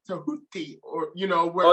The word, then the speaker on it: Tehuti: that's why i say my name is nah uh tahuti but but most people